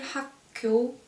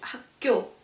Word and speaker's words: 학교: We don't say 학교, but it's 학교.